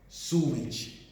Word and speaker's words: sewage: So such water or waste material constitute sewage. Sewage, you pronounce it as sewage.